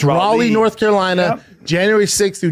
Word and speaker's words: Raleigh: maybe not I don't know not righ it's Raleigh North Carolina January 6th through January 8th and then Rally North Carol Ina January righ North Carolina January